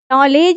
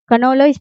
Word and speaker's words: नॉलेज: बट हम पढ़ते हैं नॉलेज है, कनोलेज पढ़ते हैं क्या? नहीं पढ़ते हैं, क्योंकि उसमें के तो लिखा जाता है बट साइलेंट हो जाता है।